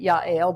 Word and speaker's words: Jael: Yeah, Jael, or Yael. I'll be pronouncing it Yael, but we're talking about Jael in English here.